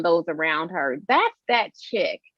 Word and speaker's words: Chic: It's pronounced chic. And I said, "Well, in French, maybe it is, but here it's chick."